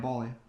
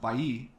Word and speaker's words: Balli: Your name's not Balli. It's pronounced Balli. My, ma'am, with all due respect, how do you know that? I have never met anybody in my life that knows how to actually pronounce my last name because it's in Spanish.